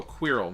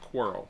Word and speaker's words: Quirrell: Quirrell rhymes with Cyril. Oh, Quirrell, not Cyril, not Quarrel. Quirrell.